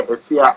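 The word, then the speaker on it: Efya: Ifia? Yeah, Ifia.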